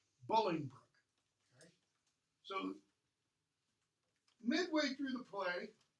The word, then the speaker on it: Bolingbroke: Hereford his name is Pingree looks like it's pronounced bully Luke but it's pronounced bullying rook Bolingbroke so midway through the play bully Brooke shows